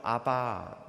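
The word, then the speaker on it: אבא: 외우기도 쉬워요 아빠 똑같습니다 아람어 발음으로 아바 은 대디 라는 3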